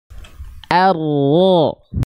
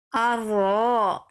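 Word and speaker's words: الرحمن: arrahmanirahim Oke Bunda di awal jangan or orro jangan terbawa tebal huruf ro Hamzah A itu tipis er Ikuti saya bunda coba a coba Ikuti saya a a ro ro arro arro ee bagus a-nya tipis seperti itu lagi a a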